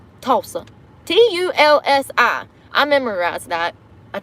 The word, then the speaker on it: Tulsi: Oh, speaking of which, I was posting some stuff with, I can't say her name, Tulsi. Tulsi. T-U-L-S-I. I memorized that. I think that's how you spell it.